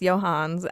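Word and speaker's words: Johne's: So the last one is Johann's disease, and it's spelled like John's disease, but it is definitely pronounced Johann's.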